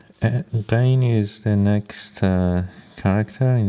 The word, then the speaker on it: غ: And in terms of the pronunciation, it's again ghain, like ain in Persian. It is a bit softened compared to the Arabic. They say ghain.